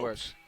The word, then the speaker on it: Lopes: Lopes. Yeah. Oh. You So know, the name is spelled Lopes, but pronounced Pez, as in the candy.